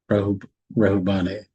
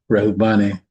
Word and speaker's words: Reuben: shall stand with you of the tribe of Reuben, which I think is actually pronounced differently. Reuben is actually pronounced Rohubani. Yeah, Rahubani.